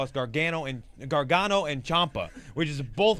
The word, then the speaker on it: Gargano: Okay, there's two pronunciations. There's the Italian version of Gargano. Okay. And then there's the Americanized version, which I say, of Gargano.